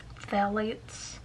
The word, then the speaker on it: phthalates: Like all Smashbox products, these are cruelty-free, formulated without parabens, phthalates. Is that how you pronounce it? Phthalates? And fragrances.